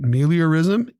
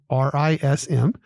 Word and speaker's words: meliorism: But meliorism, 3 syllables, giving you a chance today, meliorism.